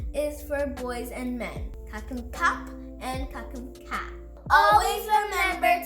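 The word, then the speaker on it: ขอบคุณครับ: Kakum ka is a girl, and kakum kap is a man. Ka is for girls and women, and kap is for boys and men. Kakum kap and kakum ka.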